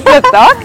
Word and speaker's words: pletok: Bir pletok?